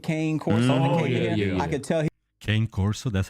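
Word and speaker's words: Cane Corso: had that big Kane Coro I could tell Kane Corso that's how you pronounce it he was a sweetheart English anyway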